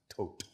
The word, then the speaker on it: Thoth: And Actually, originally pronounced tote. Tote, thank you for that.